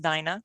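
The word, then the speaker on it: Daina: the chat as well the d-a-i-n-a is not dana it's pronounced dinah i think we've all learned today that pronouncing names is not my strong suit and how wonderful that it's dyna like you know alice's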